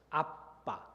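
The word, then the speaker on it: אבא: 아빠, 정확하게 발음하면 아빠, 아람어입니다.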